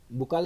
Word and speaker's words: buccal: Teeth of बुक्कल cavity, बक्कल cavity भी बोलते हैं बच्चों, इसको बुक्कल कैविटी भी बोल देते हैं कुछ टीचर्स. प्रोनाउंसिएशन बच्चों ऐसी है बक्कल कैविटी.